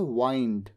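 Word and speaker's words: wind: it begins to वाइंड तो मुड़ने के लिए अपनी दिशा बदलने के लिए जो वर्ड होता है उसे प्रोनाउंस किया जाता है वाइंड ठीक है रप अप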